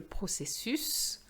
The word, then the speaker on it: processus: Same thing for le processus, le fœtus, l'utérus. And that is going to be just like le bus.